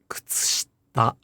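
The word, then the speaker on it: 靴下: Because if you devoice the ku, the tsu, and the shi, then it's kutsushita, kutsushita. And that sounds weird to native speakers.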